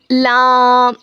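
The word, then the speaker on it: ل: लाम लाम लाम। लाम का क्या मखरज है? देखिए। जबान के किनारे को सामने के चार दांतों के मसूडों में लगाने से लामादा होता है।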